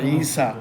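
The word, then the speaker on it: عيسى: যদি না থাকে ওটা আ উচ্চারণ মুসা ঈসা লেখার সময় কিন্তু ইয়া লাগে কিন্তু ওটা মুসিনা ইনা কি মুসা ঈসা ওটাকে আলিফে মাকসুরা বলা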